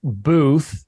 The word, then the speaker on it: Boothe: And he said, is it Boothe or Booth? And I was like, no, it's Booth. We just added an E when John Wilkes Booth killed Abraham Lincoln.